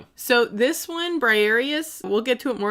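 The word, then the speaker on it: Briareus: How do you pronounce this one again? Briarius. Briarius.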